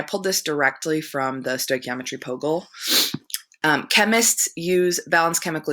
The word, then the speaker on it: stoichiometry: background again I pulled this directly from the stoichiometry puggle chemists use balance chemical equations as a